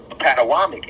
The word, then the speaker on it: Potomac: Patawamek, as they pronounced it. Originally, now it's been repronounced to Potomac.